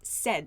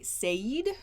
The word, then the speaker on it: said: say said has pronunciation said it sounds like s-e-d said said so some people say said but that's not correct